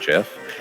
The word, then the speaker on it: GIF: So in terms of Ellervated saying that G has a hard G, that's how it's most widely used, and I think that is correct. Yeah, I guess part of it is, though, ultimately, I hear it pronounced both ways so often. It definitely seems to be a solid mix of GIF and GIF.